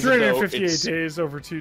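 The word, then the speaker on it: 358/2 Days: 358 days over 2 days. Even though it's spelled Kingdom Hearts 358 divided by 2 days.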